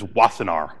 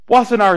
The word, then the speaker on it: Wassenaar: know how to pronounce the pronunciation is wassenaar wassenaar is a suburb of the